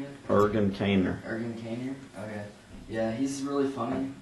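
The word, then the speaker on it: Ergun Caner: Ergen Kaner, okay.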